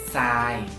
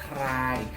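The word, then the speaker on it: ทราย: Jadi di sini thorahan rorea sara ayoya bukan dibaca try, tapi dibacanya sai. Thorahan digabungkan dengan rorea, mereka itu kayak berubah, suara rorea ini berubah karena disandingkan dengan thorahan berubah jadi S. Jadi dibacanya sai.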